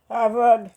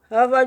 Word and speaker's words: Harvard: pas connais prononciation bon Avard oui Avard Collegge non Harvard University H Harvard University son université c'est pas